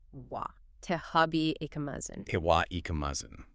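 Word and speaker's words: は: The particle in this specific construction is always pronounced wa.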